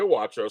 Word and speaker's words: Watros: So it's Cynthia Watros because she's Greek. Cynthia No, no, no. Watros.